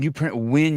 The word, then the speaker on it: Nguyen: And Nguyen, you pronounce it Win, W-I-N. That's correct.